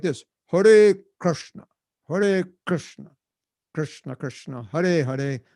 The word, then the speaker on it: Krishna: Hare Krishna, Prabhu, Jai Radhe. That's not the proper pronunciation of Sanskrit. It's Hare Krishna, Jai Radhe.